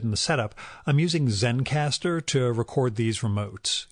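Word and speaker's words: Zencastr: the setup I'm using Zen caster to record these remotes it's spelled like it sounds except there is no final E so Zen caster ends well it's ze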